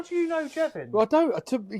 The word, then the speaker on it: Jevan: Yeah, so when we went to Exeter for Jevan rhymes with heaven, kind of as well.